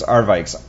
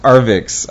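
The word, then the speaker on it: Arvixe: talking about so I love it anyway it's arvik it's pronounced arix I always say it wrong but it's a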